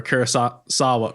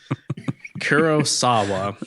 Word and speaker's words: Kurosawa: Jacob asked Gain ended up how Gain ended up looking like a oneeyed character from a Kurasa Sawa. Oh my god. Kurosawa.